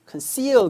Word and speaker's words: conceal: conceal 그래요. 강세가 뒤에 있습니다. 강세가 없어서 이 강세가 없는 양모음 O 같은 경우에는 콘 하시면 안 돼요, 여러분. 약하게 으 또는 그죠? 뭐 중간에 발음하시면 됩니다.